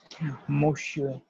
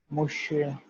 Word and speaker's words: Monsieur: we have, and it will pronounce it as Monsieur, Monsieur, Monsieur, right?